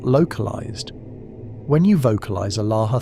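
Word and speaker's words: الله: Allah is pronounced Allah, with equal emphasis on all three syllables and a strong aspirated H at the end.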